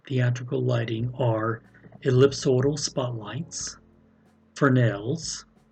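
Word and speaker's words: Fresnel: lighting are ellipsoidal spotlights for nails yes it's a french word and the s is silent floods and cyclites and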